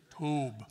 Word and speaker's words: Tob: Say Tob.